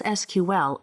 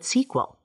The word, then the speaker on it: SQL: Officially, it is pronounced as SQL, though some call it SQL.